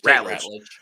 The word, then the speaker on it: Ratledge: Is it Rutledge? Did I say it? Ratledge. Ratledge. I always say his name. Ratledge.